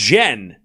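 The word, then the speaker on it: Tjen: Oh, it's pronounced jen. Oh, it's no t. So, it's a silent t.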